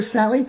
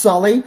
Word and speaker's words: Sully: I've called up, hi, yeah, I'm looking for Sally. It's actually pronounced Sully.